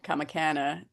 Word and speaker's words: Comicana: I've always said kamicana so I'm glad to hear you say kamicana is how it's pronounced.